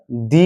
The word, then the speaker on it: the: ভুল উচ্চারণ করি আমরা অনেকেই জানি না কোথায় দি হবে কোথায় দ উচ্চারণ হবে যেমন আমরা এই যে তিনটা বর্ণ আছেটি এইচ ই একসঙ্গে আছে।